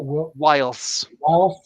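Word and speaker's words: Whilce: Whilst.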